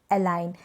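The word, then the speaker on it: align: जैसे कि design, foreign, साइन, Nash, अलाइन। यहाँ पर जी जो है एन से पहले है, तो यहाँ पर इस जी को हम प्रोनाउंस नहीं करें, जी यहाँ पर साइलेंट है।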